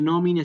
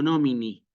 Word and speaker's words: nomine: de la palabra entonces a veces no se escucha nomine sino nomini sí o no se escucha